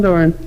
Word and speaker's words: Doran: Yep, Doran.